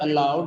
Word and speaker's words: aloud: As per the rules of word stress, in the word aloud, the second syllable is stressed.